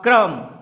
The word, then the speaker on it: crumb: और आपका ये सेकेंड स्टेंजा है पेज नंबर 206 पर, जो है पहले लाइन क्या है, नॉट अ क्रम, CRUMB आपका साइलेंट है.